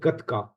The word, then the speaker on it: Gatka: the Sikh martial arts is called Gatka. Oh yeah, that's That's right. the Yeah, proper pronunciation.